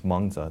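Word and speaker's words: Mengzi: the second great confusion menchus in the chinese pronunciation is manza they made it mencious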